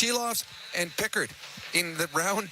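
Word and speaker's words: Silovs: say his name AR shiloff shiloff so it's shiloff and picker in the round two game four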